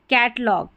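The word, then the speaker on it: catalogue: हमारा नियम है कि शब्द के अंत में जी यू ई हो तो उसका उच्चारण ग होता है। जी यू ई यानी ये जब स्पेलिंग के लास्ट में ये वाला कॉम्बिनेशन रहेगा ना इसको आपने पढ़ना है ग क्या पढ़ेंगे ग जैसे यहां पर है कैटलॉग कैटलॉग तो यहां पर ग हो गया जी यू ई का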